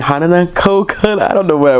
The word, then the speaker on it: Hanako-kun: Toilet Bound Hanako-Kun, and I've been like adding an extra syllable in there. I don't know why, but it's Toilet Bound Hanako-Kun. I'm gonna get this right. It's just this I keep adding an extra NA.